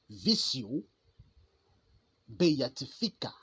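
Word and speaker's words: visio beatifica: vision béatifique en latin la vision béatifique s'appelle ou alors se prononce vio béatifica c'est une utile façon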